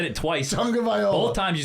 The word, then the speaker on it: Tagovailoa: Tua Tagovailoa? Are you fucking kidding me? I can barely say it. Take a stab at it. Tua Tagovailoa. No, just the last name. You said it twice. Tagovailoa.